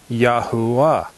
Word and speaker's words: Yahuwah: That is why Yod-Heh-Wah-Heh is pronounced as Yahuwah.